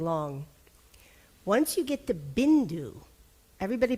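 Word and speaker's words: बिन्दु: So if you have only one consonant, it's different for the vowel before it.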